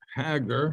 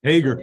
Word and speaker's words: Hager: here to talk with Mr Robert haggar I think I'd pronounced that correct Hager okay that's better um about a special